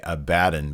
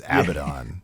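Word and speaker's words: Abadon: say her name too i always want to say abaddon but it's abaddon i don't know what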